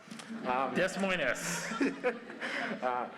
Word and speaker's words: Des Moines: I'm Endless Ninja Fury, and I'm from Des Moines, Washington, where we pronounce the S. Des Moines.